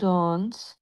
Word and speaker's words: danse: Je danse, tu danses, নট ডন্স না, il en ডন্স, danse, ডন্স, নট ডন্স, danse, ডন্স, danse, n হবে না উচ্চারণ।